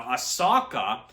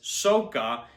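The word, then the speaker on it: Sokka: SOA or no no aaka is pronounced as sooka and general iro he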